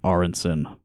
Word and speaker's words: Aronsen: I did practice pronouncing your last name. Aronsen.